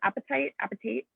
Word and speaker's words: apatite: Apatite. Hi, Catherine. Last week, Shira said it's like apatite, like spelled with two P's. The same. She said it was the same.